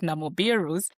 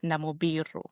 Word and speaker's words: Namubiru: Because normally I hear people pronouncing all sorts of Namoirus, you know, in emails and all those kind of things. It's it's quite very crazy. But you pronounce my name as Namibiru.